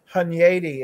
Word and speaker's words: Hunyadi: Hunyadi is how you pronounce it.